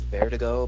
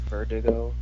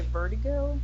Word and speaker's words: Verdugo: say it correctly the I think in Spanish it's bare to go but in English its Verdugo Verdugo yes see that's one let's play safe Verdugo but I always used to say birdie goon like Bert I don't know but